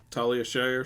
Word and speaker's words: Talia Shire: Talia Shire, sure.